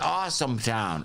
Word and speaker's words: Austintown: austintown awesome austin awesome we pronounce it awesome town awesome town is that